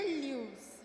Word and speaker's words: Lewis: A Lewis. Primeiro me diga como pronuncia o sobrenome. É Lewis? Então, minha família fala que é Lewis, mas eu não sei se em outro país fala de outro jeito.